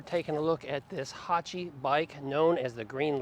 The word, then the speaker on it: Haoqi: we're going to talk about is the name Hachi A lot of people mispronounce that and they call it hey Yoki but that would be incorrect so we reached out to the manufacturer and they assured us Hachi was the pre the correct pronunciation for this